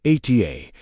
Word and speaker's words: Ata: Ata, pronounced Ata, means you are or it is.